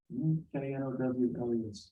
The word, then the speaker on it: Knowles: Can you spell it? K-N-O-W-L-E-S.